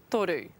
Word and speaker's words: toru: Toru.